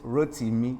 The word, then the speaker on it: Rotimi: It's it's Rotimi.